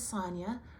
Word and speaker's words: Sonia: As I said, my name is Sonia, rhymes with lasagna.